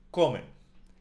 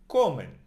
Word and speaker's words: comen: For they eat, we say in Spanish, comen. It ends in N. And the N also belongs to the nose. So, comen.